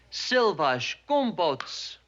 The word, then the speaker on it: szilvásgombóc: Uh chicken paprikash palacsinta szilvásgombóc. Seal for what? Szilvásgombóc. That's plum dumplings. Um look, say szilvás. Seal vash. Gombóc. Gum boats.